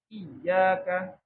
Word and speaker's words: Iyyaka: Iyyaka. Itu kan sebelumnya kan bukan nun kan, tapi hamzah. Hamzah yang kasroh. Iya. Bacanya bukan iya. Kadang kesalahan di Al-Fatihah itu. Di ayat iyyaka bacanya jadi panjang. Iya.